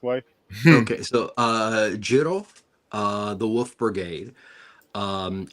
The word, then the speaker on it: Jin-Roh: this title the correct way okay so uh Jirro uh the wolf brigade um it's actually a play on a term ginlu which means werewolf So Jinro or Jin Ru and this is why we